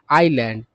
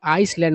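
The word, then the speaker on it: island: और टापू, द्वीप के लिए आप एक अन्य वर्ड जानते हैं, वह वर्ड है आइलैंड। और इस वर्ड का भी लोग गलत उच्चारण करते हैं, बहुत लोग तो इसका आइसलैंड उच्चारण करते हैं, है ना।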